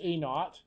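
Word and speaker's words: A₀: a little 1, or sometimes A with a 0, that's pronounced A naught.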